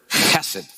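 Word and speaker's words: hesed: of Ruth key word hassid and I spell it with a K often you'll see it h e s e d hassid or hassid and you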